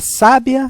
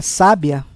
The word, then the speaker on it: sábia: nós vamos verificar que na primeira palavra sábia o som mais aberto a sílaba tônica é no sa enquanto em sabiá a sílaba tônica é no último a sabiá enquanto a palavra